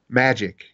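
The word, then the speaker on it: Majyk: that'll be fun um what's your band's name magic and it's spelled m-a-j-y-k um just like magic johnson not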